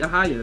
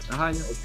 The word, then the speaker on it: Ahi'Yah: Oh no, you pronounce it. You pronounce it right. Aaya. That's it. That's it. Aaya.